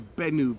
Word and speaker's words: Benu: And also it's also known as what's called a Benu bird, which, as far as I can recall correctly, is spelled B-E-N-U, the Benu birds.